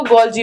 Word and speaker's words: Golgi: इनको आप कैसे भी प्रोनाउंस कर सकते हो, क्योंकि कई टीचर्स कैमिलो गोल्गी बोलते हैं, कई लोग कैमिलियो गोल्जी बोलते हैं।